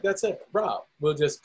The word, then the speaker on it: RAab: And I was like, hey, man, how do you pronounce that car name? He was like, Saab. I was like, that's it, RAab.